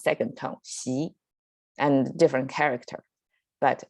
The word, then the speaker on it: Xi: china is xi jinping so his surname is pronounced second tongue she and different character but it's the same pronunciation